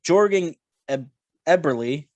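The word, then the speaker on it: Jordan Eberle: in the way with 15 goals followed by jorgen eberle actually i hope i pronounced that right mike did i pronounce that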